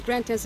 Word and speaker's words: Grand Anse: Like Grantin's Beach, which is the famous beach in Grenada, is called, but they pronounce it as Grantin's Beach.